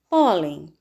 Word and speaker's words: pólen: razão deve ser acentuada pólen o polén sílaba mais forte pó o último penúltima paroxítona